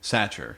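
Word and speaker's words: Sachar: Satcher.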